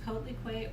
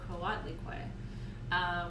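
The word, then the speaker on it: Coatlicue: for and you'll hear people pronounce her name two different ways codelique or kawatlikoy which is technically accurate to na waddle which is the original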